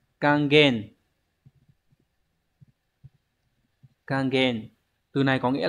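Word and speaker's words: 還元: rất nhiều lần rồi Đây là Hán tự là chữ hoàn và chữ Nguyên đọc là kangen kangen từ này có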